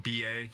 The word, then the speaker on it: Zimba: If you look up Andrew Zimba and it's spelled like it sounds, Zimba, in Amazon, you can find In Times of War.